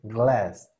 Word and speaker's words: glass: Vean cómo lo digo gla. No es a. Es glass. Es esta E que les digo que es la combinación de dos sonidos.